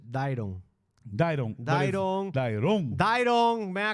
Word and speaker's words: Dairon: You're the only one that says Dairon. Dairon. Oh, because that's right. His girlfriend always give me shit because in Spanish, you put emphasis on one vowel or the other. My mother has always said Dairon.